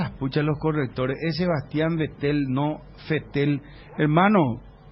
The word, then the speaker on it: Vettel: los correctores es sebastian vettel no se te el hermano sebastian vettel en alemán porque los alemanes por ejemplo no dicen volkswagen volkswagen dicen ellos pronunciación alemana no tuve hermano querido neerlandés